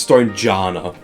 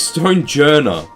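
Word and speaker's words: Stonjourner: Like stone jour is officially pronounced as stone janna. No the it isn't. Who's calling it stone janna? It's stone jer.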